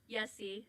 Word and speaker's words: Yessie: Yessie. So Yessie. Jesse with a Y.